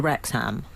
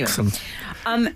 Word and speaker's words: Wrexham: Wrexham. It's not as in West Ham. It's as in.